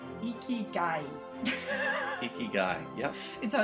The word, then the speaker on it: ikigai: I don't know how to pronounce it, but there's a word, it's a Japanese concept, and it's ikigai.